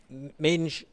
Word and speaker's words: Mendes: The last few meters for Mendes of Portugal. Jose Mendes, or Minge, is how they pronounce it. He's given me a lesson in that.